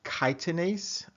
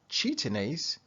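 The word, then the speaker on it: chitinase: pronounce this next word one way is chitin ace another way is cheatin ace and there may be a third and maybe even a fourth way to pronounce it but for this lecture we're gonna stick with chitin ace which is associated with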